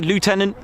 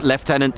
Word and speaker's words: lieutenant: Uh I will always say lieutenant if I'm referring to uh United States Air Force because in the RAF it's left tenant.